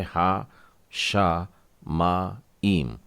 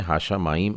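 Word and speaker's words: השמים: ये है हा शा मा ईम। शायद इससे पहले आपने हाशा माइम ऐसा ही पढ़ा होगा, लेकिन अब देखिए शिन में एक एक्स्ट्रा डॉट लगा है और ये दगेश खजाक है।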